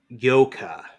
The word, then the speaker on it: yuca: y-u-c-c-a is a flowering plant why UCA is pronounced yoka but the Yucca one is pronounced yolk ah